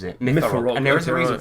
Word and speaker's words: Myfarog: Yes, I thought it was Myfarog, but that's how he pronounces it. Myfarog.